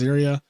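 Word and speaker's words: Serie: There's this barrier put up by Sari. Or Ziri, however you say her name. Yeah, her name is so weirdly pronounced, but the way it's spelled is definitely Siri, but is pronounced Ziria.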